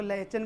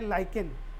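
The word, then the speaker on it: lichen: बहुत सारे लोग इसको लाइचन भी पढ़ते हैं, बट इसका सही वर्ड जो है वो है लाइकेन, एच यहाँ पे साइलेंट हो जाएगा।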